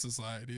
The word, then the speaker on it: Societe: So for our ultimatum beer, we've got one made by Societe. Yeah. Societe Brewing. It's just Society.